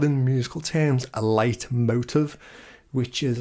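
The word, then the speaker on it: Leitmotiv: David Tennant's doctor so it's a German phrase um it's pronounced light motive but it's not it's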